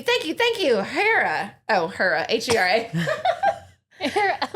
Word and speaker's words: Hera: Oh, Hera, Hera. I was in my mind picturing Hera because I'm an idiot. Spelled like Harrah's, like the casinos. Oh, I like that. But it's Hera.